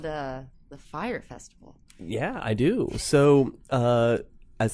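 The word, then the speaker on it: Fyre: Fire Festival, and it's not even spelled like fire. No, I didn't know how to say it, It's but I heard F-Y-R-E.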